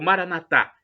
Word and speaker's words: Maranatha: na penúltima sílaba ou Maranatha como dizemos nós católicos com a tônica na última sílaba é do aramaico dialeto